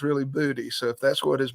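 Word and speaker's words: Boutte: yeah but booty in Louisiana it can be pronounced either way booty or bhute and he's been bhute for the last couple of years but he's gone to going back he said no it's really booty so if that's what his mama calls him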